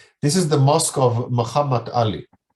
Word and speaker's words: Muhammad Ali: This is the mosque of Muhammad Ali. Muhammad, not Muhammad. The Arab and the English, of course, pronunciation is Muhammad. Muhammad.